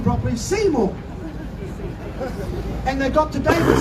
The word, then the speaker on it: Seymour: to David and I'll say his name properly Seymour and they've got to David Seymour the so-called